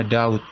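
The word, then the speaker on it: doubt: possible nah sini kau ini bacanya Daud ya Bukan ini b nya yaitu silent Rider ya ataupun huruf yang tidak ikut dibaca ya So this is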